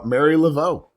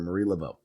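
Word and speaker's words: Marie Laveau: Uh Mary Lavo or Marie Lavo, sorry, Marie Lavo.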